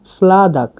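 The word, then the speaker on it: sladak: sweet মিষ্টিকে বলা হয় স্লাদাক সলাদাক মানে মিষ্টি স্লাদাক দেখুন এটা হচ্ছে এস এটা এল এ ডি এ কে স্লাদাক সলাদাক মানে মাংস এখানে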